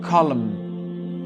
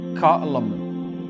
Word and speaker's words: column: Le N, on l'ignore et on prononce bien le M. Donc ça donne column, column, column.